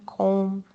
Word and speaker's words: comb: just a note that the b is silent in climb, comb, debt, and dumb. There might be other words similar, but when we have when we have a m and a b at the end, it is um it is silent. Meaning that there's no sound at all.